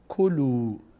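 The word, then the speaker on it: كُلُوا: یعنی ادامه بدید تلاوتو کلو ک لو ضم بعدش وا صدای او می‌گیره این الف خونده نمیشه چون روش علامت صفر هست هیچوقت خونده نمیشه این کلو من الان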